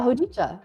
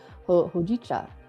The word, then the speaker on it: hojicha: Hicha. I think I'm saying that right. I'm probably saying it wrong. Hojicha. You got that right.